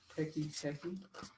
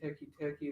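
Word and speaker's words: Teke Teke: But this one, I think it's pronounced Teki Teki.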